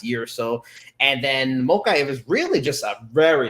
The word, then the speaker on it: Mokaev: And the first one I wanted to talk about was Muhammad Mokaev. Mokaev, I think that's how you pronounce it.